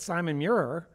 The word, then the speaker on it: Simon Muir: lead up here at Simon Muir. Proper pronunciation? Yeah, that's all right. Perfect. Good.